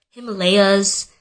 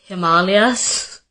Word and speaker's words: Himalayas: There's just too many stories, but literally anytime it has to do with the pronunciation of an Indian word, I'm the one who's being corrected. Like ashwagandha and Himalayas, it's Himalayas, and it's ashwagandha.